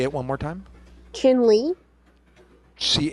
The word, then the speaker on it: Chinle: where chin Le is did you say Finley chinley chinley Arizona no it's um spell it sorry uh c h i n l e say it one more time chinley CH h i n l e l e